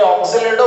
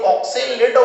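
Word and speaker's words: oxalato: कोई ऑक्जेलेटो बोल देता है, कोई ऑक्सेलेटो बोल देता है, बात क्या है, एक ही प्रोनाउंसिएशन का अंतर है केवल।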